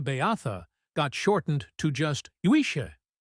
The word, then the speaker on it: uisce: got shortened to just yisha pronounced ishka when the English got